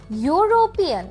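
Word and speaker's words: European: এটা একটা consonant sound. যদি আমরা এক্সাম্পল দেখি আপনি একদম ক্লিয়ারলি বুঝে যাবেন। ইউরোপিয়ান দেখেছেন এটা যে প্রথম উচ্চারণটা সেটা কি ইউ না?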